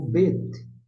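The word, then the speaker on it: בּ: O BET, você pronuncia BET.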